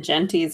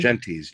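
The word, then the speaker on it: Gentes: Genties. G-E-N-T-S. Genties. Oh, yes. like gents. Probably butchering that as like gents, but with an E, yes. Yes. Gents with an extra E.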